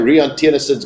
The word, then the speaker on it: Rian Tienison: There we go, Rian, I got your name right. He was having a go at me for getting his name wrong. Well, I tell you, it is Rian Tienison.